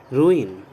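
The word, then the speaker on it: ruin: Okay, now the next word is रून, नहीं, रूइन। Okay, correct pronunciation है इसका रूइन।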